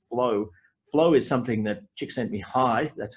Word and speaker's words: Csikszentmihalyi: Flow is something that Csikszentmihalyi, that's how you pronounce that name, Csikszentmihalyi discovered with a colleague, Gene Nakamura, in 2002.